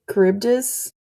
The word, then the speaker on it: Charybdis: My least favorite is probably Charybdis. That's how you say it, right? Yes, I for the longest time I was like Charbides?